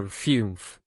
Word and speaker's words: Fünf: In the Fünf for that U round your lips like O and say E.